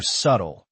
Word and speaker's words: subtle: Another example is kernel spelled like colon L but pronounced colonel or subtle where the B is completely silent.